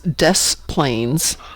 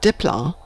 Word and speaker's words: Des Plaines: Chicago, where one of the towns out here is Des Plaines, not Dipla.